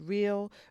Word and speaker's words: Real: And so anyway, I also made my way to a store called Real, which is spelled real, but it's called Real.